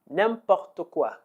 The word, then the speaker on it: n'importe quoi: no please don't okay let's learn how to pronounce it all the various expressions that we have derived from name bottle the first name pop taqwa name popped aqua name POC - name pop